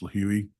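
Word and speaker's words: Lihue: And those purchases were made on March 13th, and they were round trip from Phoenix to LIH, which is, I believe it's pronounced Lahui, Hawaii, on the island of Kauai.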